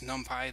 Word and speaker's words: NumPy: And I should just clarify, some people pronounce this NumPy, that's short for numbers for Python or numbers in Python.